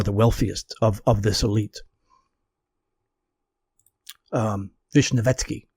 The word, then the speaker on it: Vishnevetsky: the Dnieper, name was Vishnevsky, and he was by far the wealthiest of this elite. Vishnevetsky, I'm sorry, is how you properly pronounce it.